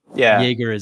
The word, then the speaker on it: Jaeger: I mean, how are you supposed to properly pronounce it? I would say more like the French than with the German, even though Jaeger is definitely the way you would say.